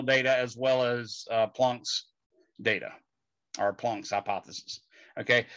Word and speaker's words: Planck: 34 joule seconds and that's called planck's constant okay it's called plunk's constant named after max plunk okay now that was